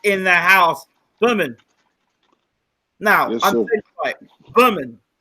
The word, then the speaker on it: Bermane: their house lemon now Berman have I said it right this time not bur main Berman great great welcome back